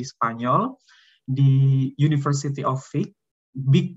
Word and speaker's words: Vic: di University of Vic, Vic bacanya ya kalau versi Spanyolnya, bahasa Spanyol untuk kampus ini Universitat de Vic.